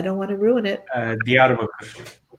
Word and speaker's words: Diyarbakır: Can you pronounce this for me, Sidar? Because I don't want to ruin it. Diyarbakır. Diyarbakır.